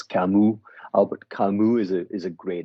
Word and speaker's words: Camus: It's with an S, but you don't pronounce the S. Camus.